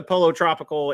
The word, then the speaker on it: Pollo Tropical: you Gary for reminding me how to that's pronounced and uh he he walked me through it guys so uh we went to Polo Tropical it was really good uh there's a chain